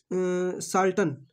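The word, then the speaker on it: charlatan: तो देखिए ये साल्टन जो है ना, इसका देखिए इसका प्रोनाउंसिएशन जो है, इसमें आर साइलेंट है और सी एच को सौ पड़ा जाएगा, साल्टन झूठा कपटी या ढोंगी, ठीक है।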